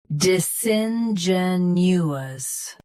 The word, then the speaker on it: disingenuous: Disingenuous, disingenuous. U.S. sun, U.K. sin. Same rest.